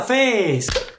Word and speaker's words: fes: molto bella è bella Face Esatto Face è arrivato il momento di fare luce su questa misteriosa parola tipicamente Bresciana Innanzitutto Come si pronuncia face face Mi raccomando e stretta G Bell Come si